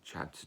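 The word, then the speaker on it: Ceadda: then there's c-a-e-l-i-n callin and the last one pronounced spelt c-e-a-d-d-a chadda or more usually chad all four of these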